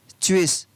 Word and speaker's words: switch: Next, शब्दों में T के तुरंत बाद अगर CH हो तो वहाँ पर T का उच्चारण नहीं होता। T के बाद में क्या होना चाहिए, GS, तो वहाँ पर T को नहीं पढ़ा जाएगा। For example SWITCH, स्विच, स्विच, तो स्विच में यहाँ पर T है वो नहीं पढ़ा